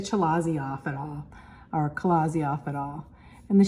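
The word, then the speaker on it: chalazae: here's a picture Kazi looks like it says chazi but it's pronounced anounced Kazi and so those are those little um yarn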